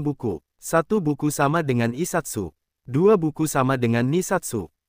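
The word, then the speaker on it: 一冊: Beberapa angka mengalami perubahan pengucapan agar lebih mudah diucapkan seperti Isatsu bukan Ichi Satsu.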